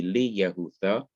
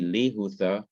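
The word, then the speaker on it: לִיהוּדָה: will no longer be li yahutha it will no longer be be yahutha it will no longer be ki yahutha it will now be lee hutha b hutha and kihuta okay now let us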